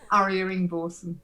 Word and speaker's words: Arya Ingvorsen: And today we're talking to Arya Ingvorsen. Is that right, Arya? Have I said it right? Yeah, that's fine. That's perfect. How do you say it? Arya Ingvorsen.